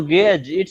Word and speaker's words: gauge: word uh it's like i will pronounce it like gauge that's right uh not sure yeah not gay no no gage you know you know